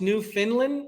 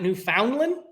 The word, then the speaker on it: Newfoundland: from so your first oh yeah so it's pronounced New Finland new and not New Foundland New Finland newfinland Newland f n d fo